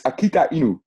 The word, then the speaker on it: AKITAINU: It's AKITAINU. It's Japanese.